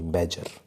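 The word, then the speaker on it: badger: एंड द बैगर sorry बैजर इसको क्या पढ़ते हैं बी ए डी जी ई आर यहां पर डी साइलेंट रहता है इसको जी को पढ़ते हैं सि बैजर इसको क्या पढ़ते हैं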